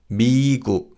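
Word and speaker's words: 미국: And first it's United States of America and this is Migu. The syllable B means America, which is why the continents North America and South America are also called pi and nami.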